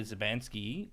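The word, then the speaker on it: Szubanski: at my dog was so with the magda zabanski that's how i'm saying it right yes yes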